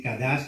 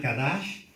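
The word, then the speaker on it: cadash: Algunos ya lo apuntaron, así que no se preocupen, pero consagración, del hebreo kadash, ¿sí? Lo pueden escribir así, kadash con C, acento en la A, SH al final, kadash.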